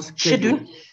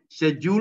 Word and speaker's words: schedule: Soit vous dites schedule or schedule. Schedule or schedule. Yes. Schedule or schedule. Yes. Right. Okay. British is schedule and American English is schedule.